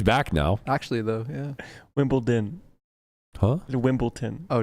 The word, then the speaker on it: Wimbledon: me on air that it actually has a D in it you're better for it honestly sounded so happy like Wimbleton wimble Wimbledon sounds like sounds like a 5-year-old mispronouncing wimble tin right hey Chris are